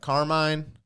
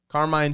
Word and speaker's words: Carmine: would you spell that Carmine Carmine Santino Infantino car car like car and then mine like mine then infant with an